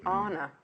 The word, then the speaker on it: Anna: Tomorrow we've got Anna Marie Horner. Actually, Anna. That's how she pronounces it, isn't it?